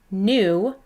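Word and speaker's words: knew: does this next word new does play fair you might remember that when the k comes before the n the k is silent and we just hear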